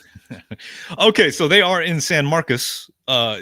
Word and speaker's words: San Marcos: It's not pron it's not pronounced San Marcos. It's San Marcus. San Marcus. Yeah. Is that Is that the Texas swing? That is how they pronounce it. It's San Marcus.